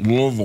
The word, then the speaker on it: Louisville: You don't say it Louisville. You say it Louisville.